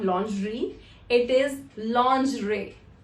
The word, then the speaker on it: lingerie: The correct pronunciation of this word is lingerie. I've also heard people calling it lingerie. It is not lingerie, it is lingerie. The sound that comes at the end, R-I-E, is actually pronounced as re, lingerie.